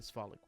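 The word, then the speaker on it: Svalich: Um but from there you're in the woods, the swollic woods. and he'll spell that s v a l i c h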